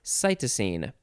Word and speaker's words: cytosine: cytosine and let's see let's look ahead to see if we can find out how to pronounce that it is cytosine so the cytidine is